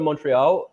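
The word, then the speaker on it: Montréal: first You tell us, how do you pronounce it? Say it again. Montreal.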